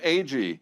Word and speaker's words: Agee: to them, and then the announcer said, Steve Agee. And all my friends were like, fucking idiot, mispronounced your name.